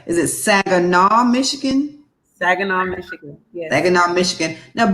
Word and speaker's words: Saginaw: Saginaw, Michigan.